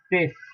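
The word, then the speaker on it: six: The I and X are pronounced as ES. So you have 6 in English language, pronounced in French as cis.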